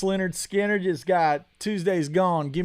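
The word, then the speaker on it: Lynyrd Skynyrd: I know a little for sure pronounced Leonard Skinner just got Tuesday's Gone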